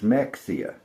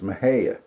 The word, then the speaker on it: Mexia: We have a town called Maha. And Yankees all the time think it's Mexia, but it's Maha.